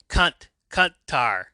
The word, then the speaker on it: Kuntar: Kuntar, no. Oh, wait. Um, that's not how it's pronounced. Oh, shit. Some yells at Artie and Ruth to say it right. Say it right. It's Kuntar. Kuntar.